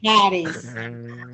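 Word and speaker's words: χάρις: Lembre-se que esta é a letra I, desenhada como um X no grego, mas a pronúncia dela é Haris. Haris. Haris, ó. Haris. Haris. E eu acentuo a letra, a sílaba A.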